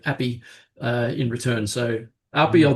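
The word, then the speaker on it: Api: He did say it's Appy, and he's been introducing himself as Appy his whole life and being called Appy in return.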